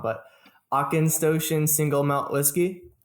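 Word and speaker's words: Auchentoshan: pronounce this wrong, but Aukenstoshen single malt whiskey. Almost right. Aukenstoshen. Okay. Aukenstoshen.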